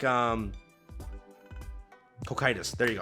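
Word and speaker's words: Cocytus: want to mess it up it's like um coitus there you go it's coitus that's how you say it so I'll never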